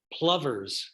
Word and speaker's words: plover: is one of them plovers like lover Plover I Can Tell Dennis likes the Plover pronunciation oh he does it he likes lover Clover yeah kind of funny